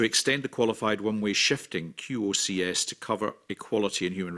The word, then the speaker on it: QOCS: In cases where qualified one-way costing shifts, QOCS pronounced QOCS, Well, not by me.